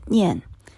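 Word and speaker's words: 念: The Chinese character shown in this slide is pronounced Nian and stands for mindfulness.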